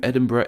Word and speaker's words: Edinburgh: there's even a new Edinburgh in Ottawa Canada and this name is often pronounced as Edinburg as opposed to its native Scottish pronunciation A lot of these